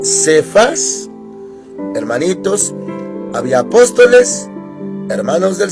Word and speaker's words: Cefas: Cefas, para nosotros, hermanitos, así se pronuncia Cefas, en hebreo Kefa, y empieza con K.